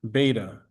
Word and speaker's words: beta: The probability of making a type 2 error is denoted by the Greek letter beta, pronounced beta, right? Like the fish, right?